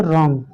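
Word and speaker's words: wrong: अगला एग्जांपल देख लीजिए, रॉन्ग, बहुत बोलते हैं ना।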